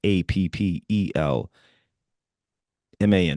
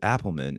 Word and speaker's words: Appelman: And then I was like, wait, you just said Appleman. It's gotta be. It's like, all right. Yes. It's Appelman. So not how Correct. you write it in school. Okay. The E comes first.